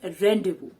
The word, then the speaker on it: rendezvous: actually the pronunciation is rendezvous it is because the pronunciation in french is not according to the spellings now this word means